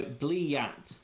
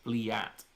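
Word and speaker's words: блять: So, Blyat. Blyat. Isn't that just like a Blair? That sounds like a Blair to me. Yeah, but it's not. It's Blyat.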